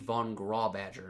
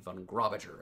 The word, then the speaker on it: von Grawbadger: And, it is indeed Wade von Grawbadger, not Wade von Grawbadger, as I've sometimes guessed it might be.